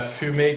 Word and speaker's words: fumée: Il y a l'accent donc on va prononcer la E.